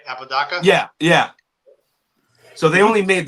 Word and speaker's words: Apodaca: Apodaca?